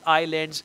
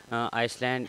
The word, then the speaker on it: island: to live on a iceland island not iceland iceland is different island island if the